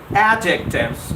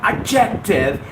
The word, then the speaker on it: adjective: nothing to do with adjectives. All the people out there, you get the wrong pronunciation of this word. It's not adjective, it's adjective. Because D is quiescent in the spelling.